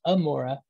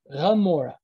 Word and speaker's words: Gomorrah: And I believe it's the Samaritans, they pronounce it as, I think they might pronounce it as Amora, but the Jews pronounce it as Gomorrah, Gomorrah. It's that GH sound.